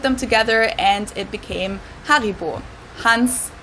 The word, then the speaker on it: Haribo: Haribo is actually German we pronounce it Haribo Haribo and again the name